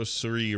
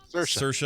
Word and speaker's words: Saoirse: for marriage story so Suri Ronan for the women are sorry the little women are shut Saoirse I never get it right rhymes with inertia Charlize Theron for bombshell